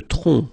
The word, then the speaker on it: tronc: Le tronc, okay, remember, final C is not pronounced here.